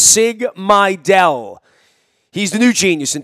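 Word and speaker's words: Sig Mejdal: to pronounce Sigma del that's pronounced sig my del he's the new genius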